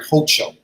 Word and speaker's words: Hochul: And I guess in 2 weeks, she'll become our formal governor, Kathy, I want to say her name right, Hochul.